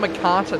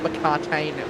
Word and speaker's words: McCarthy: our boys is uh he told me that stefan mccarthy not mccartain which i was saying i think i've